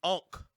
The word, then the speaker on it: Ankh: We have the Ankh. That's how you pronounce it, right?